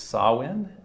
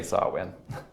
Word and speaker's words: Samhain: the Gaelic festival of, I am told that this is pronounced Samhain, I think, so I'm going to say Samhain.